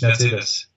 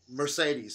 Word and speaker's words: Mercedes: I don't know how to pronounce it in American language, but in German it's Mercedes. Mercedes.